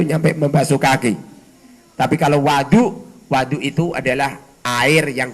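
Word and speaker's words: وضوء: wabifath Lan kelawan kafat wawu berarti bacanya bukan wudu tapi Wadu bagaimana jikal wawunya itu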